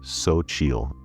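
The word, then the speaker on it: Xochitl: Account name Zochil. If you don't know, that's pronounced Sochil, spelled X O C H I T L.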